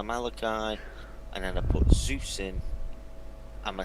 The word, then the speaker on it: Zeus: it is pronounced Zeus. Zeus was the guy that had wings on his feet. Whatever. So it's That was- it's pronounced Zeus.